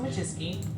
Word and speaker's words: Wojcicki: My name's Susan Wojcicki.